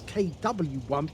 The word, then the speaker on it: KW I: Well, in fact, actually, it says KW1, but in actual fact, in German, the W means a V, or is pronounced as a V.